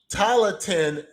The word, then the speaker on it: Tailteann: And they would have these things called the Talatin Games. That is Tailteann.